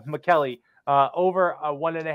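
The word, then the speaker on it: Maccelli: Matias McKelly Matias McKelly we had to do a little pronunciation check before the show because they weren't sure how to say his last name melli mcki melli but McKelly uh over one and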